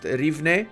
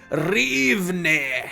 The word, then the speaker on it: Rivne: That's exactly how you pronounce this, by the way. You might have thought it's just pronounced Rivne. No, you have to say it like this. Rivne. Otherwise, you're just wrong, okay?